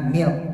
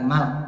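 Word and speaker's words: مِلْك: pada lafaz lillahi itu almilku yaitu kepemilikan ya dibacanya milk bukan malk kalau malk itu kerajaan ya malak atau Malik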